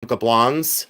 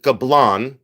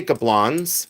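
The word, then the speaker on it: Gablonz: Uh, I believe that it is Gablons. That's the way I pronounce it. You can pronounce it Gablon if you wish to say Gablon, you can. But I say Gablons. I pronounce the Z.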